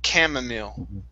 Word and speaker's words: chamomile: so instead of chamomile this word is pronounced cam chamomile chamomile meal chamomile yeah okay good and